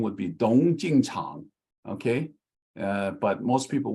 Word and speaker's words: Tung: And it is not Tong, because T-O-N-G would be wrong, like the Blue Poppy book did.